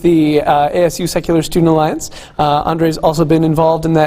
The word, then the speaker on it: Andre: And with no further ado, please join me in welcoming Andrew.